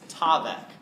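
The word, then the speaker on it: תָּוֶךְ: It's tavek. Tavek. Remember that two-syllable word, tavek?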